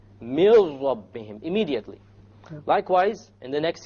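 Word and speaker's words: من ربهم: So you don't say min rabbihim, you drop it. You drop the noon and you merge the meme with the ra. And you say, mil rabbihim, mil rabbihim, immediately.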